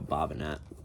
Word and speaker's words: Bobinet: This woman, Kyra Bobinet, that's how you say her name, picture of her.